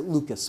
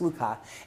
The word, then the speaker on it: Lucas: And sometimes people mispronounce it Lucas, but it's Lucas.